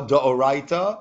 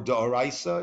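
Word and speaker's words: דאורייתא: It is a prohibition by Torah law, da'oraita or da'oraisa, either way to pronounce that, to separate the edges of pages that were not cut in books, journals, or newspapers.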